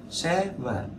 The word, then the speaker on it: seven: nó không đúng lắm, bởi vì là trọng âm nó là âm thứ nhất, nên là các bạn đọc seven là hơi sai, bởi vì cái chữ vần nó sẽ to hơn cái chữ se, đúng không? Đọc là seven. Đấy, xe là cao hơn, vần là đi xuống.